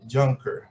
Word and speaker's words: Juncker: with me a very special guest of young juncker how are you really good thank you and congratulations on the pronunciation of my name so we are